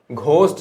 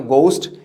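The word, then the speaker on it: ghost: होगा गैसली, है ना, घोस्ट से बना है। इसको घोस्ट नहीं, एक्चुअली हम लोग बचपन से पढ़ते हैं, इसका प्रोनाउंसिएशन होता है घोस्ट, लेकिन ये घा नहीं होता बल्कि गा होता है। तो गोस्ट या गैसली, टी साइलेंट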